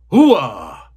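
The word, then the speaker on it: hooah: Close enough, but if you really want to say it right, it's hoo-ah!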